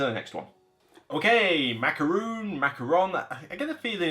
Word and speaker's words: macaron: next one okay macaroon macaron i get a feeling it's macaron that's what i'm seeing a lot of the phonetic stuff say macaron or certainly not mccarron i think it's macaron or macaroon whatever if i pronounce